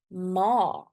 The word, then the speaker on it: ma: In Afrikaans, it is ma. Ma. So see, a very short word, M-A, but the sound of the A is very long. It's not ma, it's ma.